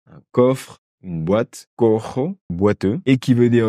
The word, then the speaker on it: cojo: C'est tout un processus pour apprendre des nouvelles prononciations. Caja, una caja, un coffre. Une boîte, cojo, boiteux.